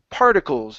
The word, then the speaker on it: particles: that's better good uh this word here is pronounced particles the stress is at the very beginning instead of particles it's